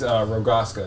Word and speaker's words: Rogaška: It is Rogaška. That's how you say it.